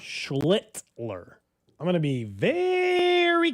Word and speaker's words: Schlittler: I was saying what you're afraid of, but I found out it's Schlittler.